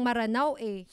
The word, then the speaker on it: Maranao: Pati nga yung spelling ng Maranao inaano nila. Kinwestiyon tayo. Kinwestiyon din. Magdidig deeper kami dyan sa Maranao spelling na yan. Actually, the right spelling is M-E-R-A-N-A-W. But the pronunciation is Maranao.